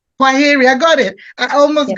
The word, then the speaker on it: Kwaheri: Kwaneri. How do you say? Kwaheri.